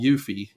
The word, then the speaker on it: eufy: through my research was um this system called yui and it's spelled EU FY and this is the camera